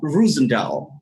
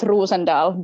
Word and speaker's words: Rosendahl: have you on the show so uh rosendale is that correct it's pronounced rusendal but yeah close enough i'm sorry okay well